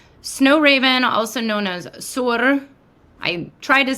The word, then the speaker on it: Suor: So, Snow Raven, also known as Sur, I tried to say it right.